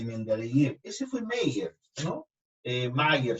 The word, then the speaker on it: Meyer: Mayer se pronuncia, ¿no? Meyer. Correcto, y sostuvo que todos los elementos serían compuestos de hidrógeno.